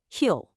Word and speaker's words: he'll: When you say he will all contracted, it becomes he'll which sounds well, it sounds exactly like the word hill.